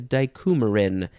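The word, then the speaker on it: dicoumarin: shall just be check the next word is dicumerin dicumerin d-i-c-o-u-m-a-r-i-n I think it is dicumerin and let's just do a quick little check on that pronunciation and yes I think that's good noun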